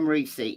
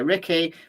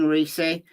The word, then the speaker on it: Ricci: we're going to try is his name reesi yes that's the way it's way Michael osbrook um pronounces it U Michael osbrook has done some work for reei Davis so knows him and he pronounces his name Rey now people say Ricky people are saying Richie I'm saying reei because that's what Michael osbrook uses and Michael osbrook knows